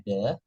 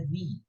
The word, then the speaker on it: the: memiliki awal bunyi konsonan sementara ada the yang dibaca Apa yang dibaca di di ada the yang dibaca di kalau misalnya dia bertemu kata dengan awal bunyi vokal Contohnya apa contohnya ya